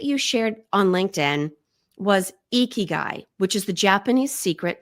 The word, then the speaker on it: ikigai: also checked out the audiobook the author says eeky guy but other people have a different pronunciation so yes we're going to go guy if you say iy guy you're still welcome to listen and we would